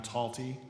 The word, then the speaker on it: Talty: My name is Taltty. Last name is spelled T A L T Y, like salty with a T.